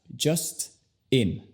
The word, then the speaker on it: Justin: Es más como decir dos palabras separadas. Just in. just in. Por ejemplo, decir algo como just in time, just in case. Y así tiene razón, porque son dos palabras con una sílaba no enfatizada, cada una. Entonces, ya que no hay una sílaba enfatizada, ya sabes, las vocales se convierten al sonido schwa.